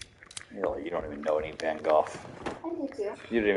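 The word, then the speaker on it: Van Gogh: too you didn't even know his name was pronounced van goof I did too you called him van go like a plebeian huh I mean to be fair I learned it's pronounced van go from Doctor Who so the blood has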